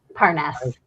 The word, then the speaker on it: Parness: How do you pronounce that? Parness. Parness and Alex Perone.